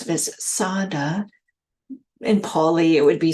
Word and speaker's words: saddhā: to introduce a third faculty and that is sadada German teachers often pronounce it as Sada in paully it would be Sada but it's